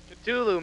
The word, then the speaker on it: Cthulhu: The exact pronunciation. Cthulhu, man.